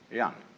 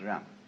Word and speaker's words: Ren: In Confucius philosophy, the fundamental virtue of a human being is called Ren, spelled Jen for reasons best known to Chinese scholars. I don't know what they are, but it's pronounced Ren.